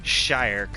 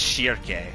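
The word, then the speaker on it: Schierke: And instead of Shirk, or whatever they pronounced it, it's Shirke. Shirke.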